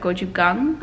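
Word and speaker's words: gochujang: for my pronunciation but gochugang i'm pretty sure that's how you pronounce it um at any of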